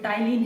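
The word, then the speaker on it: ptyalin: और इसको जो टाइलिन है, यहाँ पे प्लीज साइलेंट है आप लोगों का, टाइलिन, इसी का दूसरा नाम इस तरह से, ठीक है।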